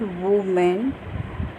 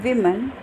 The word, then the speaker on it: women: It's not woman. It's women. V-man, man and V.